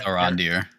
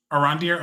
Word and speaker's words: Arondir: think it's Arondir. Arandir.